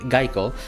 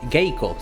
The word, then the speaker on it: Gaeko: issue pronouncing her name geico um gaeko sorry not geico that's the giant gay